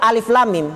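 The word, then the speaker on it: الم: kenapa bisa jadi panjang Karena ejaannya lam setelah lam ada mim Lam Mim maka lamnya lam ketemu dengan mim setelah lam itu makanya lamnya jadi Pak panjang walaupun tidak ada musik itu dalam tulisan tapi dalam ejaan bacaannya ejaan semua bukan mengikuti apa tulisannya Kalau tulisannya tidak ada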